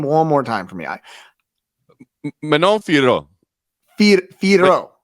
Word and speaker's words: Manon Fiorot: Manon Fiorot. Fiorot. I believe, but it's less harsh than that because it's very soft and subtle and French.